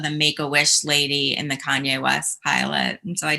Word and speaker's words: Kanye: bit trying i'm sorry kanye oh i'm from ohio we say kenny that's how we pronounce it well i don't care where you're from you pronounce my name kanye oh okay let's go